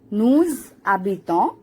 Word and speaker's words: nous habitons: elle habite, elle habite, nous habitons. Now here nous will be pronounced as nous because it's followed by H, which is treated like vowel. That's why that S gets pronounced as Z.